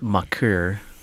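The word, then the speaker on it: Thon Maker: that's more seen walnuts it's pronounced mucker so I'm signing Thawne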